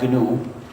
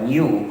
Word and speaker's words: GNU: Pero sí todavía es GNU y se debe pronunciar GNU, o en castellano se puede pronunciar GNU como si comenzara por ñ, pero la pronunciación errónea que no debe usarse nunca es Linux.